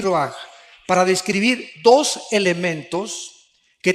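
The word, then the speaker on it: רוח: Aquí se usa otra palabra hebrea, que se escribe ruach, con R de Raúl, A-C-H, se pronuncia ruach.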